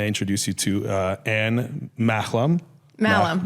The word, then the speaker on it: Mahlum: Malham, yeah. Malham, Yeah, the H is silent. The H is silent, yeah. And yeah. Malham.